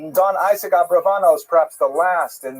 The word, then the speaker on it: Abravanel: Oh, I should mention, by the way, many people pronounce the same Abarbanel, and that's because of the, it's much easier, as Stephen says, it's much easier to rhyme the song to the name Abarbanel, if you know what I'm talking about, right, with schlock rock version of Abarbanel, but it's most likely pronounced Abravanel or Abrabanel.